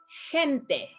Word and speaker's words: gente: Gente, you pronounce more like gente, right?